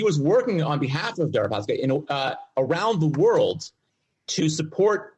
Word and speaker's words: Deripaska: Their speaker, I think his name is I can't pronounce his name. Sorry. Darapik Kalimnik. Darapisk Kalimnik. Kalimnik? No. Kalimnik is the intelligence agent. The oligarch is named Oleg. Oleg Deripaska.